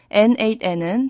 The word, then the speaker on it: N8N: 비율을 드리면 N8N은 자기 집에 차린 개인 공장과 같습니다.